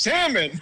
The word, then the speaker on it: salmon: say salmon it's pronounced salmon I you don't pronounce the L no the l i